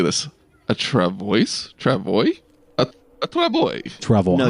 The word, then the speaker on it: travois: Yes, Wikipedia says it's pronounced travois.